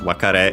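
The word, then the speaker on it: 別れ: The other one of course ware is actually used and quite often uh because it means parting uh separation uh and so by extension farewell uh by the way accented on the last syllable.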